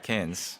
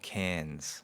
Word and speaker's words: Cairns: I've been to the city of Cairns. Is that the right pronunciation? That's right, Cairns. Australians don't really pronounce the R a lot.